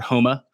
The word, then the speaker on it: Homa: Max Homa is another one, or Homa, because the PGA Tour corrected me on that pronunciation when I was doing videos for them.